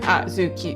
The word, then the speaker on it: Azuki: Like, Azuki, there's 3 syllables.